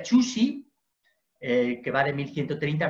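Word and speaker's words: Zhu Xi: Se pronuncia Chuxi, que va de 1130 a 1200.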